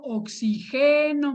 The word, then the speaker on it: oxigeno: Porque también puedo yo pronunciar oxígeno. Yo puedo decir, yo oxigeno mis pulmones yendo a correr al bosque. Entonces la sílaba tónica sería esta y no llevaría tilde, porque es una palabra